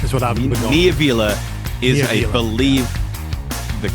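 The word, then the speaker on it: Kniivila: No idea if there's any connection there, but when I see the double I, that's what I go with.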